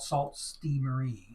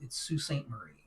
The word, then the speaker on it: Sault Ste. Marie: They kept talking about Sault Ste. Marie. And it's Sault Ste. Marie. That's how it's pronounced.